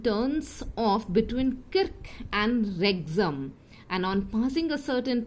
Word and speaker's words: Wrexham: दो जगह का नाम है किर्क और सेकेंड जगह का नाम है जो W से शुरू हो रही है, WREXHAM. W is silent here. Wrexham.